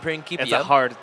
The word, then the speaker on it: Principia: I was going to say Principia, but It actually looks like Principia, but Principia. it's a hard K sound. It's a hard C.